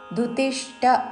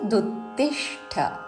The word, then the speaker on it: దుత్తిష్ఠ: తస్మా త మీద ఆఘాత దుత్తిష్ట దుతిష్ట అనకూడదు దు పక్కన ద్విత్వాక్షరము తకి తావత్తు దుత్తిష్ట తి మీద ఆఘాత తస్మా దుత్తిష్ట కౌంతేయ క